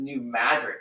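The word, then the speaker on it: New Madrid: the region sits on what's known as the new madid fault line and yes it's pronounced that way for some reason which has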